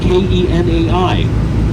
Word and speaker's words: Kenai: Now, Kenai is spelled K E N A I.